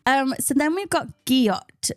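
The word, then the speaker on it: gyat: so then we've got guot spell g y a t pronounced guot you've heard this one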